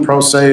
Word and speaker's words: pro se: Pro se persona, pro se is how you say it.